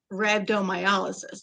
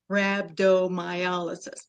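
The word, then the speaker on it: rhabdomyolysis: Um, so when I say it, I say rabdtomyolysis. That's how you pronounce it. Rabbdoiolysis.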